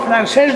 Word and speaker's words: francés: Muchos dicen francés, digo no, francés no, francés, con C, acento en la E, francés.